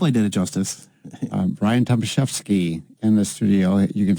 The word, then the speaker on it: Tomaszewski: I wasn't taught Tomaszewski. It was said Tomaszewski.